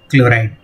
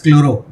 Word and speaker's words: chloride: It will be methanoyl chloride. Don't pronounce this as chloro. That was in halogen. Here it will be chloride only.